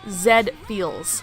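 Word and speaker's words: Z-Fields: that anyway Z feel it's pronounced Zed feels like the anime robot you know I looked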